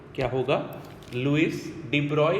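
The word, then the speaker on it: de Broglie: अब अगर इसको प्रोनाउंस करें तो लिखा हुआ अपने को डी ब्रॉगली मिलता है, बट एक्चुअली होता क्या है आपका कि भाई इसका नाम क्या बोलते हैं अपन? Louis डी ब्रॉय।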